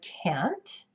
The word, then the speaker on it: can't: to the word can't in this word the vowel sound doesn't change it keeps the AK sound but North American English speakers will drop the T sound at the end of this word if we put it in the middle of a sentence so it'll really sound more like can see if you can